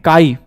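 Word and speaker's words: chi: करते हैं pronounced as इसको हम लोग कैसे प्रोनाउंस करते हैं काई हिंदी में बोले तो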